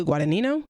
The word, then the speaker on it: Guadagnino: My number 10 is Challengers, which is directed by Luca Guadagnino. Yeah, that's how you pronounce it, I believe.